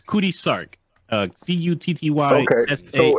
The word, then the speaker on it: Cutty Sark: C-U-T-T-Y S-A-R-K. So it's actually pronounced Cutty, but you keep saying Cutty.